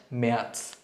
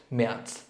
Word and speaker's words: März: সো জানুয়ারিকে বলবো আমরা ইয়ানুয়া, ফেব্রুয়ারি হচ্ছে ফেব্রুয়া, মার্চ মেয়ার্চ, এখানে আউমলাউট মেয়ার্চ।